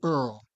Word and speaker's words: Eorl: the next part we we decided to pronounce this Earl correct correct so it's